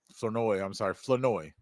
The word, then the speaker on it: Flournoy: Flournoy. You don't pronounce the R. The R is silent.